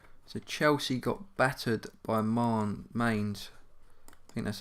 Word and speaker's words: Mainz: The Europa League final, Chelsea Mainz, and you've got some games there as well in the league. So Chelsea got battered by Mainz.